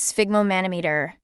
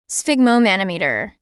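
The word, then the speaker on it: sphygmomanometer: used in cooking originating from orar England the pronunciation of this word is spigo manometer spigo manometer spigo manometer it's an instrument for measuring blood pressure the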